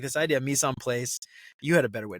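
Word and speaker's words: mise en place: it how do you how you mis pla which is you know French so it's it's all you gota you gotta say it in a fancier accent than I did um but that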